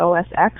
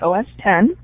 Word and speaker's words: OS X: some people pronounce that os x it's actually a roman numeral so it's os 10 and linux has ubuntu